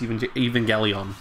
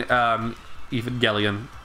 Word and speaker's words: Evangelion: Oh, when someone mispronounces Neon Genesis Evangelion. Evangelion? It's Evangelion. I know it's a hard G.